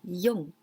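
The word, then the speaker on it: 四: We pronounce yon.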